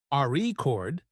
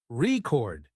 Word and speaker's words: record: For example, in the word record, if you stress the first syllable, RE chord, it's a noun, but if you stress the second syllable, record, it's a verb practicing stress.